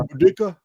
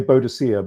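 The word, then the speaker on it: Boudica: Budika. Budda. Yes. Uda. Okay. Yeah. Uh or well they used to say bodisa but it it's more correctly known that's the lat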